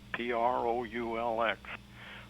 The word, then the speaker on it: Proulx: William Donald Proulx, Proulx. I always have to spell that.